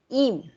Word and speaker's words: ihm: Im. H is silent, no?